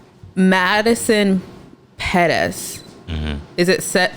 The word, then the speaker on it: Pettis: I was gonna say Madison Pettis. Is it pronounced like that?